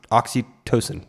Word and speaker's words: oxytocin: we go there is oxy oxytocin that's how it's said oxytocin is a chemical